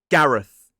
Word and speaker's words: Gareth: This is Gareth. G-A-R-E-Th. Gareth. So it ends in that voiceless TH sound. 2 syllables, stress on the first.